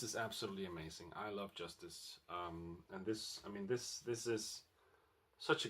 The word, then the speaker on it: Justice: This is the French band Justice, or Justice, I think their name should be pronounced, and their debut album of the same name, I believe.